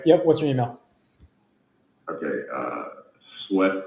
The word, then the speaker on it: Swett: Sweat, but it's spelled SWETT.